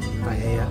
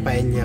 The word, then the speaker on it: paella: Paella. Seafood. Ang paella kasi, ang double L kasi dito, Y ang pronunciation na kaya paella.